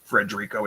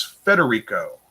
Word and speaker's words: Federico: It's not Frederico, it's Federico.